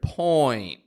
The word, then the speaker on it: point: to the point now when I'm pronouncing that word point point point I'm not pronouncing it so slow like point when I say it naturally point but I am making that full oi movement now point is one